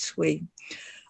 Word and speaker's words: 衰: We would pronounce it as 催.